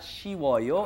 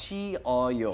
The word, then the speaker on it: 시어요: It's not 시워요, it's 시어요. 시어요.